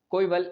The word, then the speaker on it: coeval: आगे हम लोग बात करते हैं जो कोविल लिखा हुआ है, कोइवल, इसका मतलब होता है